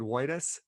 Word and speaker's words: Woitas: gave the pronunciation where it's not that quite pronounced between the two words uh and he just said white us and uh and todd said that's it he